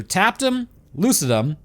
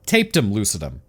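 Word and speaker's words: tapetum lucidum: say a disclaimer here there's two ways to pronounce this that I have heard either tapped them Lucid them or taped them Lucid them honestly I don't think it matters taped him does look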